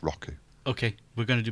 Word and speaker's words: Roku: show you rocking withu I mispronounce it every time he actually supposed to say Roku I can't I can't bring myself to say Roku it's Roku okay we're going to